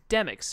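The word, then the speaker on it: Demyx: So it's pronounced Demix, not Demix. I always thought it was Demix. I guess it's Demix, or Zaldan pronounces it weird.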